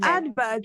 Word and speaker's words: advert: The advert of television. Advert, the T should be heard.